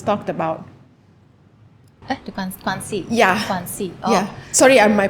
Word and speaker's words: Guanxi: Guanxi. Oh. Yeah. Sorry, my pronunciation.